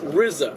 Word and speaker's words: RZA: i i understand that he pronounces it rizza okay rza i always thought it was rza but apparently i i actually